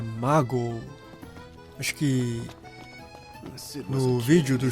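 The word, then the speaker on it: Maagho: Aliás, a pronúncia é Mago. Acho que no vídeo do Chocobo Festival falava Magu.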